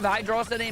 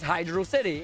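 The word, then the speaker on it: Hydrocity: No, because hydroity is not a word. It is hydro city. It is a water of city or a city of water.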